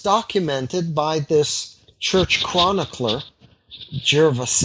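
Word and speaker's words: Gervase: by this church chronicler Gervais eh I suppose that's how you pronounce it ger VA se and you know he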